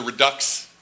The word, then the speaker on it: redux: So that's kind of-- and that was the mistake of the reason why there's the redux in the title. How do-- did you pronounce it redux or redo?